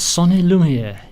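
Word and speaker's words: son et lumière: And this is called The Story of a Village, and it's Sonny Lumiere. Yes. Have I pronounced it correctly?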